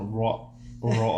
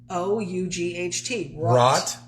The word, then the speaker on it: wrought: Wrought iron? Rod? It's not What do you say? rod. What are the words you're trying to say? It's wrought. Wrought iron? It's wrought. Wrought iron? WROUGHT. Rot? Right. Rot. Rot. Rot. Why are you putting the raw? It's rot.